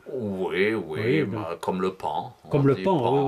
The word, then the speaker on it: paon: Oui, Oui, bah, comme le pan. Comme On le dit pan, oui, oui. oui. une D'ailleurs, bête je me demande aussi. pourquoi on dit pan, parce que ça s'écrit P-A-O-N.